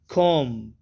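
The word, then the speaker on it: comb: हैं पहला वर्ड है कम कोम बी साइलेंट रहेगा कोम कंघी या कंघी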